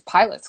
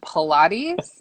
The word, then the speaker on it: Pilates: um i want to sign up for these pilots classes they're like you mean pilates and i was like yeah okay but it's